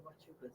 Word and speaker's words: Huachuca: Those are called the Huachucas. The Huachucas? That's the Huachuca Mountains. The Huachuca Mountains. That's how you say it.